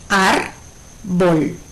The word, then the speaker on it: árbol: Por ejemplo, árbol es una palabra de 2 sílabas. Ar-bol. Bol es la última sílaba. Ar, la penúltima sílaba. Como el acento recae sobre la sílaba ar, es una palabra grave.